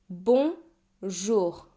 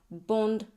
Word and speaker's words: bonjour: And the J is pronounced like the S in English word leisure. So no D sound here. Bonjour not bond just bonjour.